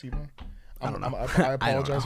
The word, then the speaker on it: Ebon: It's not Eban, it's Ebon.